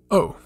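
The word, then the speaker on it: お: the kana we have oh and uh it's pronounced like you're saying o or o or in original uh and if you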